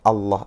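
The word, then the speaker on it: الله: atau ialam tebal adalah harus membaca huruf lam pada lafadz Allah itu dengan tebal yaitu dengan cara mengangkat lidah dan menekannya ke langit-langit atas sambil menekan suara yang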